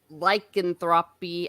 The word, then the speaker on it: lycanthropy: Oh, Orange Hat Review says the psychological case of lycanthropy. I should be pronouncing Lycanthropy.